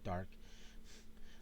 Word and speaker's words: Darhk: Darhk. It's how you pronounce it. Well, it's how you spell his last name. Dark. Yeah, Dark.